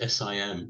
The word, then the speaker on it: sim: So the Portuguese word for yes is sim, which is S-I-M, but it's pronounced sim.